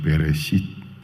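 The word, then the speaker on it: בְּרֵאשִׁית: Pero en la palabra hebrea, en el principio se pronuncia peresit. ¿Y qué pasa? El libro de Génesis, capítulo 1, versículo 1, inicia con esa palabra peresit, quiere decir en el principio, ya que originalmente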